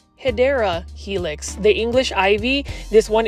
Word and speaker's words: Hedera helix: your collection and then here is a HRA helix or the correct way to say it is hedera Helix the English ivy this